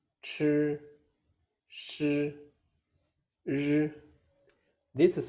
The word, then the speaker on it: chi: Chi is the aspirated version of zhi. Same tone position as zhi, but with a strong burst of air. More air. Chi, chi, chi.